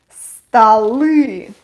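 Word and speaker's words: столы: unstressed and we get stali stali o becomes unstressed and it's pronounced like a stali a table stol stali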